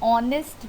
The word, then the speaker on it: honest: An honest man. Honest, that would be wrong to pronounce. An honest man. So pronunciation, that is O sound you see here.